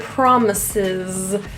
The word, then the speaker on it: promises: In the word promises, the first S is pronounced as a voiceless S. The second is a Z.